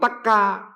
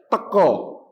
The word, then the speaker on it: teko: merumuskan bahasa Jawa itu bunyinya antara a dengan o itulah bahasa Jawa baru yang dikreasi Sultan Agung ada tiga tingkatan kromo Madyo ngoko dan semuanya kemudian ngeleg tapi sego bukan Lara tapi loro bukan teka tapi teko karena Sultan Agung seneng Jadi